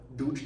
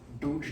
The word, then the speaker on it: Duj: The capital letters mean they're pronounced differently than you might think of, especially from a romantic language perspective. So this isn't duj, dev, chod. Duj, dev, chod. It's duj, not duj. Duj. The tongue is in the back of